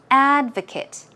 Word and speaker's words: advocate: The pronunciation is texture, and advocate. In the noun form, the stress goes on the first syllable, so it is advocate.